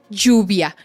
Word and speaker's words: lluvia: como Rain la palabra lluvia es jeans Y luego dices y Y luego dices jeans Y luego dices juns juns juns yv juv lluvia lluvia lluvia Okay queridos escuchas Yo sé